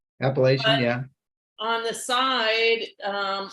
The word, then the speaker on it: appellation: do you say that a peliation so it's appellation yeah on the side